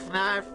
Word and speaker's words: Fnarf: You know Fnarf is looking for you. Fnarf rhymes with barf.